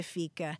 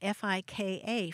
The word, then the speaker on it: fika: Socializing is key to fika.